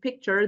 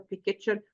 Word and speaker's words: picture: many speakers in Arabic insert a vowel between the L in the between the L and the CH sound creating a new or an extra syllable and and causing problems with the stress of the word and this affects the clarity and intelligibility of their speech okay so instead for example of saying culture and picture they say kit or pure which are Miss pronunciations of the two words okay so what we